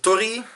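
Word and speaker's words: torii: it's most well known for its story it's Tory pronounce it right you read it it's story or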